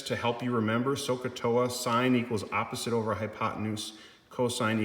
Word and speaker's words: sine: So sine, which is abbreviated SIN, but it's pronounced sine, sine of theta is equal to the opposite side divided by the hypotenuse.